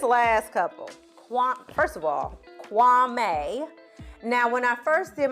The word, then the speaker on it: Kwame: wrong I think it's kuami and then then I saw a content creator who was talking about how Kwame has changed the pronunciation of his name but it actually is pronounced Kwame knew I wasn't tripping